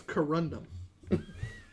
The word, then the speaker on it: Corundum: I feel like your pronunciation of this name presents a bit of a conundrum. It's Corundum. Indeed. I said what I said. I know, but I said it. Corundum.